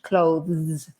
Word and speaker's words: clothes: better than clothes no stick your tongue between your teeth and you'll sound really english clothes right and then we